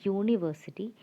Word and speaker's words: university: Even if the word university is starting with the letter U, actually the sound is Y. If you look at the spelling, you'll find that it starts with the letter U, but and U is a vowel sound, but actually the case is the word is starting with the sound Y.